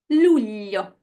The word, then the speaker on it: luglio: And its counterpart with an L, L, luglio, L.